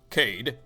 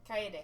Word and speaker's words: Kaede: Cade, how do you pronounce it? Kade? Kaede. Kaede, I just want to talk to you again.